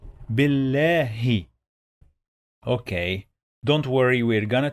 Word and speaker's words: بالله: We have here lam with shadda. What does it mean? It means we are going to pronounce the letter 2 times.